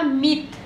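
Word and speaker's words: 및: 16मा मित, मित त है यसको उच्चारण यस्तो हुन्छ यी मित है, जसको अर्थ र वा हुन्छ।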